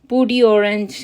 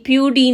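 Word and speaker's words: peau d'orange: है कि ऑरेंज peel पूडी ऑरेंज इसको जरा प्रोनाउंस करते हैं यानी प्यू डी नहीं कहेंगे पूडी पूडी ऑरेंज ठीक है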